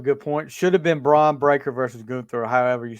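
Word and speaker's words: Bron Breakker: Should have been Braun Breaker versus Gunther, or however you say his name. It's Braun Breaker.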